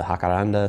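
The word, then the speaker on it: Jacaranda: Here I have the Hakaranda seed pod. Yes, pronounced it right this time.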